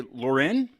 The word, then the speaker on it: Loren: last name but I'm gonna I'm gonna say Lauren yes I'm good you got it I got